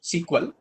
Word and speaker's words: SQL: that is what sequel that is sq exactly pronounced sequel out of what sequel